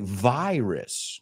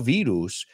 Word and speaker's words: virus: I know you recognize it, but in English it's not virus. No, no se, hombre, se escribe igual, lo único que tiene en común. So we say virus, no virus. No, ni parece la palabra.